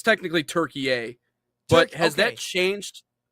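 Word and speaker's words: Türkiye: E Y but yet the actual I think pronunciation of the country is Turkey A and I've I've heard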